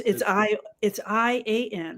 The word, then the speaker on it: Ian: You pronounce the I like an E, Ah, like a double E.